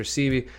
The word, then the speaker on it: Sebi: So they're talking about Dr. Sebi, sometimes pronounced Dr. Sebi.